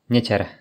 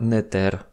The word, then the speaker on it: neter: ou un I juste après, mais il se prononce quand même mou. Par exemple, Nies se dit Nieter et pas Neter.